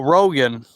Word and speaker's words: Rogan: And then Roger Evans says, "Bye. Thanks for stopping my uh or Oh, wait. Did I say Oh, Rogan. My bad. I kept Yeah, my bad. I kept pronouncing your name wrong."